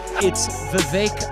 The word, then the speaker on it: Vivek: that's me the yeah Vivek like cake I'm not fake and I swim in a lake of truth that's me The yeah it's my bake it rhymes with cake it's Vivek it rhymes